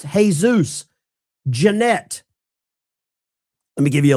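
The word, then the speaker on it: Jesús: In Spanish, Jesus is pronounced Jesus.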